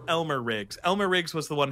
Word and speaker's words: Elmer Riggs: said his name wrong it's Elmer Riggs not Elmo rigs um did you say